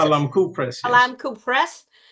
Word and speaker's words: Balamku: book that was published by Balamku, am I pronouncing it? Balamku Press, yes.